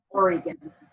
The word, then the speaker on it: Oregon: What is the correct pronunciation? Oregon.